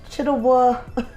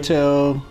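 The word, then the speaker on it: Chiwetel Ejiofor: Yeah, but his name is, I want to say Chidawell. Chidawell. I can't pronounce his name, but he played in 12 Years a Slave. He was the person in 12 Years a Slave. Chiwetel.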